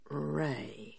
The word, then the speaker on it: Rea: Anne Ray. Sorry, it's A-double-N-E, and her surname is spelt R-E-A.